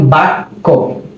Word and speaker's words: বাক্য: এই যে একটু ভালোভাবে বুঝি, যেমন বাক্য বকার বা ক জফলা, আপনি যখন এটা উচ্চারণ করতে যাবেন দেখবেন যে বাক, কটা একবার বয়ের সাথে আসবে বাক, এরপর আবার আসবে ক। বাক্য, কটা 2বার আসে না?